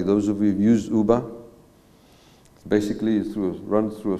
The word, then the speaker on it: Uber: Uber, that's how you pronounce it. It's Uber.